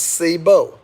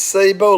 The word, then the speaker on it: Cebu: Pronounced Cebu. It's pronounced Cebu, ladies and gentlemen.